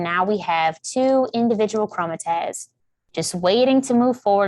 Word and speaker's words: chromatids: on that next stage i pronounced that so wrong and i just got informed that i pronounced it wrong so we all make mistakes and pronounce things very wrong so please don't say that it's chromatids i'm so sorry about